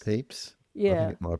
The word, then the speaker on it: Pepys: Well, yeah, do you remember in the story, it kind of, I don't know how to pronounce his name properly. The Diary of Samuel, is it Pepys? Yes. Pepys? Pepys?